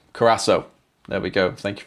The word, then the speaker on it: Curaçao: Second seeing Cura- Curaçao is pronounced as an S. Curaçao.